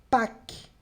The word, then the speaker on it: Pâques: Par exemple, Pâques. Percebe, ó? Não pronuncio isso aqui, paro no Q. Pâques, d'accord? Pâques. Então, só tem som de K, né?